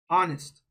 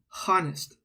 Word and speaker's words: honest: sound that you hear it's not H right it's O honest right we don't say the H sound it's not Hest that's not how you say it it's honest so because that first